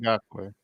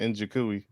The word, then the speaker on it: Ngakoue: Yannick Ngakoue. Yannick Ngakoue. It sounds like guacamole. Well, you did it better this time. Last time you said Njikui.